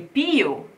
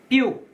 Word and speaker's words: più: Più chiaro sfavilla. Okay, più, più. This word, which means more, has a stress on the U, and you should never say piu, piu, because this is like a chick.